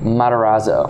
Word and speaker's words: Matarazzo: so smart and such a wise little guy pronounce his last name for me Matarazzo sure yeah absolutely after kind of fest Matarazzo yeah not that sounds like a sports car